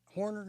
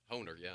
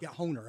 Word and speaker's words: Honer: So if I remember correctly, Horner, is that one of the big companies? Honer, yeah. Yeah, Honer. Okay, I was mispronouncing it, but they made a donation to a nursing facility or something in Florida.